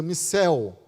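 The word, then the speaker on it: μισέω: aí para aborrece é uma palavra grega que se pronuncia Missel que significa odeia e os tradutores pudicamente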